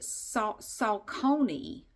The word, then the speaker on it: Saucony: Okay, so there's this woman that I see in some of my classes, and she always pronounced it Saucony.